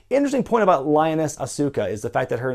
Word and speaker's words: Asuka: interesting point about lioness Asuka is the fact that her name is spelled like Oscar the Oscar we know today but it is pronounced Asuka all three syllables yet the sides of